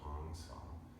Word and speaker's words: Hong Sau: is called Hong s Hong is two words so h o n g rhymes with song I'm singing a song and then saw is sa but it's just like I saw with pretty flowers so Hong saw it's